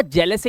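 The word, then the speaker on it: jealous: आ भी होता है कुछ शब्द ऐसे भी है जिसमें इ ए का उच्चारण ए और आ होता है जैसे आपने सुना होगा जेलस एक वर्ड होता है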